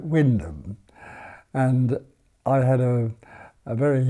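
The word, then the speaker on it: Wymondham: up in a market town named Wyndham which is what WY name - and ehm but the path spell that's how that spell it but the way they say they talk about Windham and I had a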